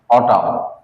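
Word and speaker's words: autumn: তাহলে আমরা শব্দের দিক থেকে যদি দেখতে যাই যে শব্দটা লিখছি এ ইউ টি ইউ এম এন অটাম এখানে এম এবং এন পাশাপাশি থাকার কারণে এন শব্দের উচ্চারণটা হয়নি এম এর উচ্চারণটা হইছে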